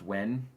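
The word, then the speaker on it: Nguyen: N-G-U-Y-E-N. That's pronounced Wen. Wen.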